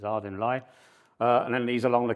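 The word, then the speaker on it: Ardingly: One in Southampton, one across here at a place called Ardinley, I'm told how to pronounce it. It could be Ardinley to me, but it's Ardinley.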